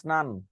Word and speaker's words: স্নান: হ্যাঁ, এই উচ্চারণ পাইছেন কই? দন্তার শয় ন ফলা আকার দন্তন্য স্নান, প দয় ম ফলা আকার পদ্মা, কয় ল